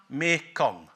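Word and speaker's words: Mekong: in Southeast Asia it becomes Mar Ganga or as it's pronounced in the Kair Empire Mikong Mikong it's just Manga suddenly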